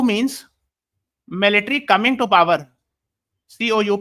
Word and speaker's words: coup: COUP we write, but it is pronounced as coup.